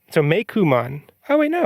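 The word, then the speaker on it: Meicoomon: Like Coon starts with COO and is spelled and is pronounced Ku.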